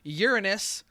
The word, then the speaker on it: Uranus: that big yeah he's crazy Jupiter's Saturn 62 Uranus which is the proper way to pronounce it it's 27 excellent and also the